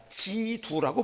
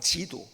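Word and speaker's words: 基督: 지두라고 발음을 하는 지두. 중국 사람은 똑같이 글을 쓰고서 지두라고 발음하고 우리는 기독이라고 발음을 하는 거예요.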